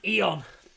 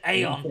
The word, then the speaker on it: aeon: i did them um it's actually pronounced eon and i said aeon in the song so uh that's